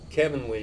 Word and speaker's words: Kevin Lee: time kevin cooper kevin lee rhymes with heavenly testing one two three